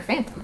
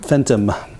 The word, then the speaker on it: Fenton: Fenton or Phantom? Fenton. Phantom? Like Danny Phantom.